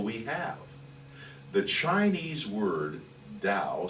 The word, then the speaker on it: Tao: The Chinese word Tao, spelled T-A-O, and we pronounce it D-A-O, is translated as the way or the path.